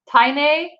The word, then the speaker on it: Tainae: that you know what i didn't know i was saying your name wrong this whole time tainae i think i'm always saying tina i thought you pronounced